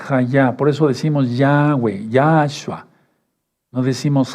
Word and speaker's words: Yahweh: ¿Y cuál es el nombre del Mesías y cómo se debe pronunciar? Hayá. Por eso decimos Yahweh, Yahshua.